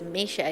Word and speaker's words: Misha: You say my name is Misha. It's Russian. It's pronounced as Misha, but it's Misha.